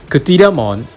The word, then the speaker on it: Cthyllamon: been doing so uh Kon is pronounced CA because basically it's from Greek origin so if you look